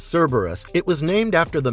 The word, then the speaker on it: Cerberus: a long brutal battle Cerberus pronounced as Cerberus it was named after